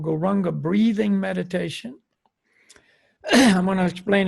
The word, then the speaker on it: Gauranga: is go wrong and we're going to divide gauranga into 4 syllables go rah um God that is the mantra